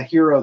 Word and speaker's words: gyro: Okay, I had a hero the other day. A hero spelled with a G, by the way, and I think kind of Mediterranean type food.